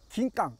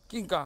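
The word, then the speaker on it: キンカン: 금귤도 뭐지만 원래는 일본어로 긴깡. 긴깡. 금감을 예, 예. 한자로 금감이 중국에서 일본 가서 금감을 일본식 발음으로 하다 보니까 긴깡이 됐다.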